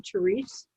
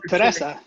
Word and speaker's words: Teresa: I'm assuming, does she pronounce her name Therese? No, Teresa.